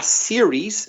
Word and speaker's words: series: that's a typical mistake a series singular has a final s s er i es is singular aa series so remember to pronounce that final s in the singular and you make two